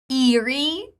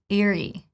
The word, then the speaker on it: eerie: First, neutral E sound, and then long E. Eerie. Eerie. I know. Like, the mistake I make, I want to pronounce it as eerie. You know, it's easier for me because I'm like, oh, it's too long E. But no, first is neutral, it's eerie.